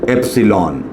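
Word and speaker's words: epsilon: ये जो हम टर्म लिखते हैं ऐसे लिखते हैं, इसको हम प्रोनाउंस करते हैं एप्सिलॉन।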